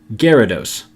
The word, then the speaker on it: Gyarados: episode Oh Gyarados the Y here is silent which most people pick up on pretty quickly but due to the